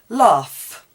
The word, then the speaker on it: laugh: Laugh. When you're laughing, it ends in GH, L-A-U-G-H, but it's pronounced F.